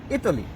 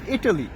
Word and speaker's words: Italy: ইতালি, right? ইতালি, তাই না? Italy, yeah. আসলে কিন্তু ইতালি না, এখানে কিন্তু টিটা উচ্চারণ কেমন হবে, টর মতো হবে, এটা হবে ইটালি।